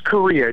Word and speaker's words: Correia: author good morning korea am i saying your last name right first of all good morning good morning yeah it's uh it's korea just pronounced like the country i know i'm saying